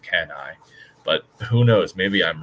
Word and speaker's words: Cannae: I wonder why he's calling it Canny. I've never heard it pronounced that way. I've always heard it pronounced Cannae, but who knows?